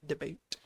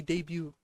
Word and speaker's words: debut: The Great Debate. Sorry, debut. I keep forgetting that the T is silent and it's pronounced completely fall. It's supposed to be debat, but it's actually debut.